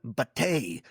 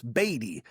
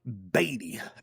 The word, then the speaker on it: Batty: Batty and Kevin Morris. Man, at first I thought it was like Bate, like Laosa Nostra Bate or Anton B or Es, but it's Anton Batty and Kevin Morris.